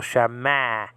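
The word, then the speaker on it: שְׁמַע: It can be an A like in father, and then the patach is an A like in the word hat. So shama, actually.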